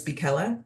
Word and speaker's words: Bella: steering committee meeting my name is Bella as in rhymes with Nella and I'm joined tonight